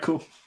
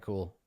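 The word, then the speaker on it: Kuhl: cat underscore cool underscore with cool spelled like my last name k u HL and also you can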